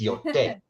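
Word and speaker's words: Yōtei: It's Yotai.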